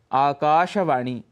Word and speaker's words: आकाशवाणी: चाहिए जनता ऐसे ही आकाशवाणी इसका उच्चारण शुद्ध यदि करना है तो वह है आकाशवाणी दिन दर्शिका दिनदर्शिका अर्थात